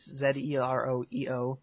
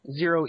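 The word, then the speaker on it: ZEROEO: Yep, and then mine is Z-E-R-O-E-O. Zero E-O. Some people pronounce it Zero, which isn't right, but just Zero E-O, which is confusing.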